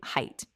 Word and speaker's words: height: But height doesn't. The correct pronunciation is simply height, like the word kite or bite or quite, just height. No th at the end.